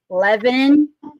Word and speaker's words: Lebanon: unbelievable in leanon and I'm G to say it again leanon Tennessee we don't do syllables in leanon Leon that is a